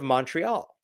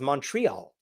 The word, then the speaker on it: Montreal: in the city of Montreal. Uh I was told it was pronounced Montreal. I don't know anymore, but the American pronunciation is Montreal.